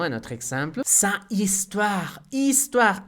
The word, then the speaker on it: histoire: Et finalement, un autre exemple, sa histoire, histoire, H muette, H muda.